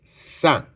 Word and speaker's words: sang: C'est parce que notre sang, on va écrire le mot sa s a n g.